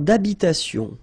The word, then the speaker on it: habitation: Une tour d'habitation. Remember, H, H doesn't exist in French, well, in most of the cases. So, it does mean that you don't pronounce it.